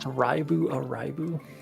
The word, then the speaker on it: Live A Live: I think HD2D was done pretty good in the Live a Live remake. It's pronounced band. If anybody tries to tell me it's pronounced alive, I'm gonna kill you. It's pronounced Raibu Araibu.